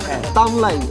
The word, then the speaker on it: তামলাই: আমাদের এলাকার, আসলে আমাদের এলাকার মানুষের একটা ইয়ে আছে, ঠাকুরের অঞ্চলের বা আমাদের এই পীরগঞ্জ অঞ্চলের মানুষ রকে অনেক সময় ল বলে উচ্চারণ করে। আচ্ছা আচ্ছা, এই যে আঞ্চলিকতা, তামরাই থেকেই। জি জি জি, তামরা লটাকে অনেক সময় ল বলে উচ্চারণ করার কারণে তামরাই থেকে তামলাই উচ্চারণ হয়ে গেছে, এটা তামলাই দিঘিতে